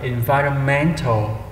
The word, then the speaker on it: environmental: Mình sẽ đọc là Environmental. Đó, mình sẽ nhấn qua âm thứ 1, 2, 3, 4, âm thứ 4 ha.